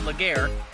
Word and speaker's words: Legare: connector were over here in Legris farms or phonetically spelled Legare over here in James Island now I know